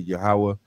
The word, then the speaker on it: Yahawah: Lord he said yoh wave we would say yahawah and we would spell it y a w a h yahawah i